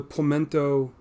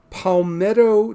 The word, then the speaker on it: Palmetto: go to the uh the pamento oh no i'm pronouncing that wrong it is the palmetto diner which would be in